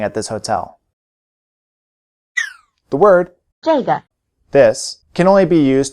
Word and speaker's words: 这个: 这个，这个，这个， It may be helpful to remember that the answers 这个 this, 这儿 here, 那个 that, and 那儿 there are all in the falling tone, while the questions 哪个 which and 哪儿 where are both in the low tone.